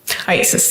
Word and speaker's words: IACIS: IASIS, yes.